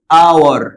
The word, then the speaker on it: hour: انا قلت ايه؟ اور، يعني الاتش ما اتنطقتش يبقى اول صوت خرج مني هو الاو مش الاتش.